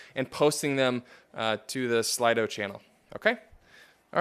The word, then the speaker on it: Slido: I have a few prepared questions that I'll probably ask, but you can also use this Slido, I think is how you say it, S-L-I-D-O.